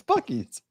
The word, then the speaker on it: Buc-ee's: Bucky's. It's Bucky's.